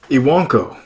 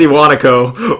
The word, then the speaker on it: Iwanako: Oh yeah, it's Iwanako. Whatever. We don't have to pronounce that A part right there.